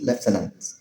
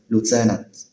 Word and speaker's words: lieutenant: In British English is pronounced leftenant. lieutenant. Whereas in American English is pronounced lieutenant.